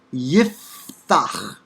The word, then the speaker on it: Yiftach: So for instance, in this personal name, anglicized Jephthah, Hebrew Yiftach, Yiftach, Yif rhymes with jif or if, Yiftach. The Pei comes after a vowel, And so it's pronounced as an F and is written without a stop.